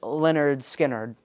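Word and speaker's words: Lynyrd Skynyrd: be talking about is Leonard Skinner's debut album pronounced Leonard skinnard I'm not really a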